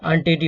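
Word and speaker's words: untidy: है, जब ये डबल कॉन्सोनेंट होगा तो इसका प्रोनाउंसिएशन क्या होगा, ओ होगा, तो अनटीडी होता है, तो इसीलिए यहाँ पे क्या करेंगे, एन का प्रयोग करेंगे।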